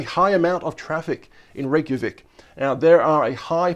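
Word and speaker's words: Reykjavík: be absolutely murdered by some uh angry vikings reykjavik reykjavik i really want to go there someday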